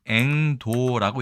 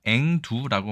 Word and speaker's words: 櫻桃: 이 글자는 앵도라고 읽습니다. 하지만 우리가 앵두라고 많이 읽고 있죠. 이 도를 두로 읽는 경우는 꽤 많이 있습니다. 예를 들어서 자도를 자두로 읽는 것도 같은 원리라고 볼 수 있겠죠.